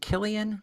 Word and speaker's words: Cillian: Is it Killian Murphy? Or is Cillian this? Murphy, yep. Yeah, the Cillian Murphy.